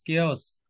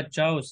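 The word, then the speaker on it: chaos: ऑफ केओस। केओस, okay okay. ये आपने इसको पढ़ा होगा चाउस, ऐसे ना।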